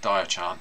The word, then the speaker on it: Diaochan: again anywhere um but Dio Chan Dio Chan I hope I saying it right sorry di Chan is how I've been told it should be pronounced um is one of